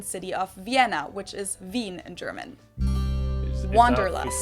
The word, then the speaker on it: Wien: from the Austrian city of Vienna which is Veen in German that's right it's kind of an old-fashioned German word that we pronounce vandalus and it's literally the desire to